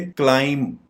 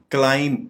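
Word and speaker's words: climb: दे रहा यानी B silent है इसको हम प्रोनाउंस करेंगे क्लाइम क्लाइम यानी बी आप प्रोनाउंस नहीं करेंगे जिससे इसकी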